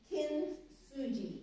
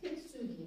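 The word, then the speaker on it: kintsugi: japanese art form that's called kinsuji i think i'm pronouncing that right kimsugi maybe and this word means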